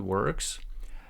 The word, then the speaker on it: works: product works perfectly again the word works it's not o here it's ER works works perfectly no one